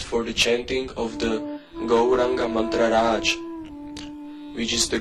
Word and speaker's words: Gauranga: The same process is to be repeated for the chanting of the Gauranga mantra Raj, which is the Gaura Gopala mantra. Go, Ra, 4-syllable Gaura Gopala mantra. Go, Ra, A, and Anga. Gauranga, Gauranga, Gauranga, Gauranga, Gauranga, Gauranga.